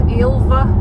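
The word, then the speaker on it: Ailbhe: So, she was ilva.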